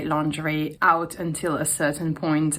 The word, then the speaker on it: lingerie: And so the thing is the word lingerie comes from French which is pronounced lingerie.